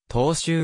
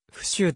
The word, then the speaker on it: 踏襲: 答弁の中で踏襲を二週と読み間違えたことを朝日新聞